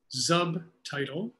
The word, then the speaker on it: Zubtitle: There's a tool called Zubtitle. And the way you spell that is with a Z. It's like subtitle with a Z.